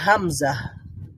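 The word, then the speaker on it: همزة: natural হা তারপরে রয়েছে হামজা হামজা হামজা এটার উচ্চারণ হচ্ছে এটার এই বর্ণটার নাম হচ্ছে হামজা তবে এটার সাউন্ড হচ্ছে আ এটা হচ্ছে আ সাউন্ড যেমনটা আলিফের যে সাউন্ডটা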